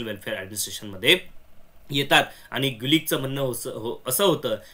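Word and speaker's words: Gulick: म्हणण आहे okay Luther गुलिक आता इथे येत बघा ओके तर एमपीएससीने डायरेक्ट याच प्रोनन्सिएशन लुथर मलिक करून टाकलं होत तुम्हाला आठवत असेल ओके लुथर मलिक नाही तर लुथर गलिक आहे हज गिव्न मॅजिक फॉर्मुला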